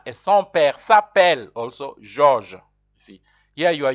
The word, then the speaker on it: Georges: And son père s'appelle Georges. That's how you pronounce George in French.